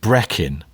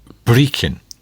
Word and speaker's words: Brechin: Well, I think I pronounced it Brechin, sort of sounding like Brecon in South Wales. It's Brechin. Brechin, okay.